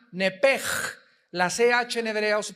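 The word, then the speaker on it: נפש: el alma en el hebreo es nepesh, se pronuncia nepej, la CH en hebreo se pronuncia como J, nepesh, murió.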